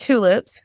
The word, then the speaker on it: TXLips: spelled TX Lips, but it's pronounced tulips.